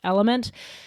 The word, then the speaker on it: LMNT: It's just capital letters LMNT, but it's pronounced Element.